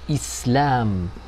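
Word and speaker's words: إسلام: Es un sukun, una ausencia de haraka, una ausencia de pronunciación. Islam, Islam. Es decir, que este sukun, esta bolita, este círculo, es contrario a i, u, porque no suena.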